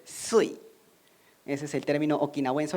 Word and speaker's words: Shuri: Shuri es el nombre en japonés, pero en Okinawa no le van a decir shuri, sino le van a decir sui.